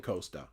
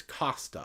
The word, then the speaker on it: Costa: I've been saying Costa. Y'all, it's Costa. I've been corrected numerous times. I have to get the Italian pronunciation. Firenze. Yes, Firenze. Costa Firenze.